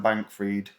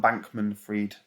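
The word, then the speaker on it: Bankman-Fried: to be opportunities but sam bank freed some bankman freed keep saying his bloody name wrong is right utility ecosystem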